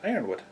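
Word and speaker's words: Yronwode: Magic by Miss Catherine Ironwood. I second that. Yeah. It's spelled with a Y, but it's pronounced with an I.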